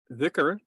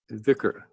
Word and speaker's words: Dhikr: Now you'll notice that Noor and I pronounce the word slightly differently sometimes, most of the time. Yeah. In classical Arabic, the letter is a sound that is not quite in English.